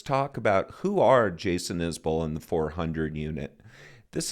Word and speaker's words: Isbell: By the way, the correct pronunciation of his name is Isbell, not Isbell.